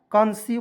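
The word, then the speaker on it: conceive: देखिए यहाँ पे कॉन्सीव है, कॉन्सीव पढ़ेंगे सी ओ एन सी ई आई भी ई, यहाँ पे देखिए ई आई है तो इसको उच्चारण बड़ी के रूप में करेंगे, ठीक है।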